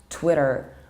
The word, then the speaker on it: Twitter: a platform in film isn't called Twitter but Twitter with short air and strong American tape Twitter whereas and British accents we pronounce it like Twitter with such British tail and possible glottal stop Twitter our next one from